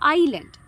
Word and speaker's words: island: words right for example let's take a word Island okay yes is silent there and it is supposed to be pronounced Island s is silent there but a person seeing that word for the first time may not be aware of that so he is likely to pronounce it with s sound something like island or